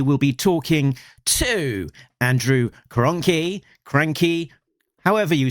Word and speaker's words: Krahnke: We got your name wrong in our previous episode. Your name is Krahnke. Krahnke.